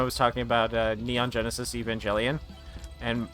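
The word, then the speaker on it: Evangelion: Neon Genesis Evangelian and people like I don't like that you pronounce the G like a J. And it's like okay but you don't call you don't call them evangelicals and you don't and you don't talk about angels and call them angels. It's it's a it's it's a it's J it's J evangelian. It's not a hard G.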